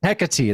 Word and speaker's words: Hecate: demon steeds You know, I I mispronounce this every time, Matt. Hecate, that's what it is.